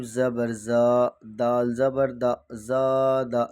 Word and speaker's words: زادہ: زا، دال زبر دا، زادہ۔ زبر کو تھوڑا بھی نہ کھینچے، دال پر جو زبر ہے۔ قاتل، قاف الف زبر